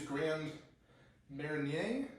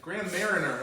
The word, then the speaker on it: Grand Marnier: Typically, you'd use Grand Marnier, Grand something, Grand Mariner, as Americans say, Grand Mariner.